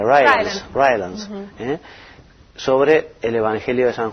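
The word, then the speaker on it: Rylands: En el año 1935 se descubrió el papiro Rylance, ¿cómo se pronuncia? Rylance, sobre el Evangelio de San Juan, que se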